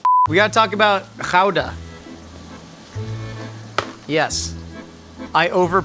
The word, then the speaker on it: Gouda: Okay, this is pronounced ka. Good. Try trying to make me mispronounce ka.